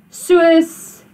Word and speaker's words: soos: En toe, soos, jy weet. So remember, the soos is not soos. You don't pronounce that double O as a oo. You pronounce it as a oe.